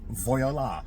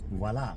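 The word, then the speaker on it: voilà: People pronounce French words different, too. Yeah. Like voyola. Mhm. But it's voila.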